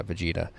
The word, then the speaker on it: Vegeta: defeating Vegeta I said it right right yeah Vegeta if he does not destroy you we will